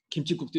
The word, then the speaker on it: 김칫국: 김칫국도 역시 마찬가지인데요. 실제로 발음하는 건 김치국이 아니라 김칫국, 김칫국 하시잖아요. 경음으로 발음을 하면 사이시옷이 들어가는 게 맞습니다.